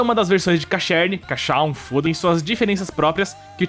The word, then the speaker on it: Casshern: chamada Neo Human Cacherne, ou Cachan, porque aparentemente é assim que se pronuncia.